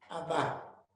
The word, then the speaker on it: Abba: Y él me dijo que esa era la verdadera pronunciación, Abba.